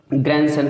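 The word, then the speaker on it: grandson: तो ग्रैंडसन कहते हैं, ग्रैंडसन नहीं कहते।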